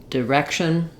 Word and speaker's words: direction: this final syllable um rather than the letter T saying a t sound like it does in directed it's going to say the it's combined with the letter i to say the sh sound direction direction and you